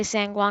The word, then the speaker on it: San Juan: be taking off from san guan uh san juan whatever you want to call it i'm going to say sanguang because that's actually the proper way to pronounce it um but yeah and